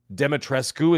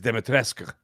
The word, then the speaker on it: Dimitrescu: Dimitrescu is how it's spelled, but to say it is Dimitrescu. Oh, okay. Yes, Eastern European. My neighbor's Croatian. Okay. It's Eastern European.